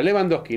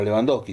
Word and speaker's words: Lewandowski: Con B corta, Lewandowski. No, trata de no pronunciar la W.